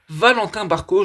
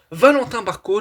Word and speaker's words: Valentin Barco: Valentin Barco, je la prononce à la française, qui débarque à Strasbourg.